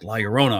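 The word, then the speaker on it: Llorona: She's like, "Lorona."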